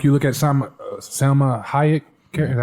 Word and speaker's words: Salma Hayek: But when you look at some of the characters, like you look at Salma Hayek, is that how you say it?